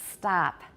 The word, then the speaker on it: stop: it's of of and the word stop an american and my dialect does not stop it's stop ah it's an ah sound everybody stop all right